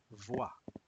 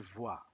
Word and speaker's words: voit: Voy il vo pronunciación termina como hemos dicho antes de 20 termina aquí voa il voa sí es la misma pronunciación que yo y tú